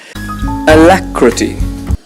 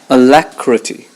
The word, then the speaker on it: alacrity: on the second syllable alacrity the stress is on the second syllable alacrity it means promptness and